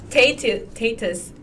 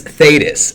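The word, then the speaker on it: Thetis: believe is her name spell that t that's t h e t i s andthus there's no other way of pronouncing that name it could be T tatus right the h no no we're not even GNA uh we're not even going to head down that road okay it's thus and no other way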